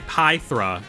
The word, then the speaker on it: Pythra: Pithra is OP. Sorry, Pythra. Canonically, that's how it's pronounced, even though it's never said in game.